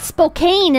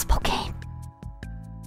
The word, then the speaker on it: Spokane: And she kept calling it Spokane, and I was sitting there like... It's not... It's not pronounced Spokane.